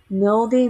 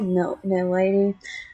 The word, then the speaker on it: Milady: This time with Mildy, Milady. And yes, I still call her Milady because that's how it w was pronounced in, well, it's how that's pronounced in like French and England.